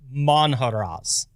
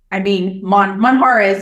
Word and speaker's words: Monjaraz: I seem to remember from my Spanish learnings that J's are a bit different. Now, I'm going to go with Monjaraz. That's pretty good.